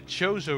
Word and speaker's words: Chozo: And here we are in the Chozo ruins. Also, I used to call them the Kozo ruins because I didn't know how to pronounce it properly.